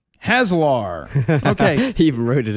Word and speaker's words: Haslar: And by the way, my name is pronounced Haslar.